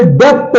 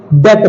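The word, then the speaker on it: debt: बी आ जाए तो इसे डेप नहीं बोलते हैं इसे डेप्थ नहीं बोलते है डेट बोलते हैं डेट बोलते हैं डेप नहीं बोलते हैं इसे डेट बोलते हैं बी साइलेंट रहता है अगला देखते हैं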